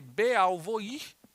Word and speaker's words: Beauvoir: teoria de uma pensadora francesa chamada Simone de bovoir se escreve o nome dela Simone de Beauvoir mas se pronuncia Simone de Beauvoir Vou Voar discorda dessa